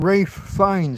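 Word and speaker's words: Ralph Fiennes: Cuz you've got Rafe Fines, haven't you? Who's really a Ralph? Yeah, that s that famous silent L.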